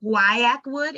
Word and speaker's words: guaiac wood: So it's guaiac wood. It's spelled GUAIACWOOD.